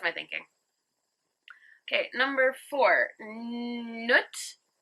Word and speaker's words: Nut: thinking okay number four nut in brackets rhymes with foot is the goddess of